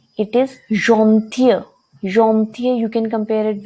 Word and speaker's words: gentille: Where it is ending with E, it is gentil. Gentil, you can compare it with the pronunciation of fear, the girl.